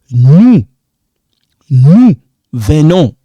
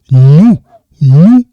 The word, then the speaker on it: nous venons: Nous venons. Silent. You don't pronounce this S. Nous venons.